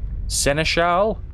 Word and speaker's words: seneschal: is that word Senesh it's seneschal let's go seneschal let's put the early at the emphasis on the last a I promise to serve